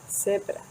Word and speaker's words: zebra: letra Z, la Z, se pronuncia como en algunos países de América Latina o incluso en Canarias, que no es como una Z, sino una Z, Z, como una S, zebra.